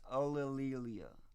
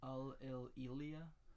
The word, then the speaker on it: Ulillillia: I'm very well known on the internet as Ulillillia, and it's pronounced Ulillillia. Ulillillia?